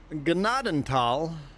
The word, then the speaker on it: Gnadenthal: Okay, so anyone that logged in here that wants to know how to pronounce Gennadal, there you go.